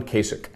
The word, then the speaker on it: Kasich: he says uh what kasich rhymes with basic and and i think